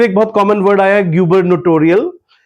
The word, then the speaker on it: gubernatorial: फिर एक बहुत कॉमन वर्ड आया गबरनटोरियल। गबरनेटोरियल वर्ड मैं एक बार फिर से प्रोनाउंस करता हूं। गबरनेटोरियल। तो इसको जुबरनेटोरियल नहीं बोलना है।